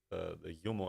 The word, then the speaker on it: Jumo: Is it UMO or JUMO? It was a bomber engine of sorts. Yeah. How's it pronounced? J-U-M-O. The UMO? UMO.